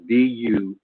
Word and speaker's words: Dujarric: I believe it's pronounced Dujurek, Dujarric.